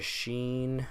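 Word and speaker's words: شين: A in English so a sheen is gonna be just like the S in the way that it is written however the way it is sounded out is a schwa so in English we have an SH to make that sound but for them they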